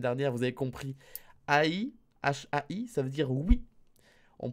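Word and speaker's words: はい: Oui, il faut prononcer le H.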